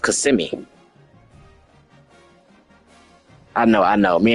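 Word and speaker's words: Kissimmee: there, we was saying we was saying like kiss me and all that. Uh the locals basically said we could tell y'all ain't from Florida. Um it's pronounced CMI.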